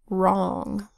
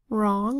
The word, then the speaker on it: wrong: Next word, wrong. Wrong is spelled with the WR phonogram that says R, followed by a O